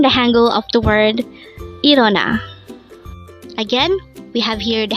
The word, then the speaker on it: 일어나: IREONA. IREONA. This is pronounced as a three-syllable word. The first syllable is is, second syllable is o, and the third syllable is na.